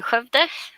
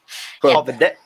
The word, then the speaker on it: Skövde: I'm located in Skövde, which is apparently quite hard to pronounce for non-Swedes. Marten can do it. Skövde. Skövde.